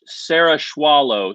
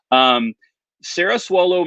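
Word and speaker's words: Cerasuolo: The C is more like an S.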